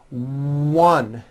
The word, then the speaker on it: one: a w very good also be aware that the w sound occurs in some words beginning with the letter o like in the words one and once you might not be